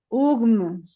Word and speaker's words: UGM: Entonces me decían, el nombre se pronuncia así, UGM.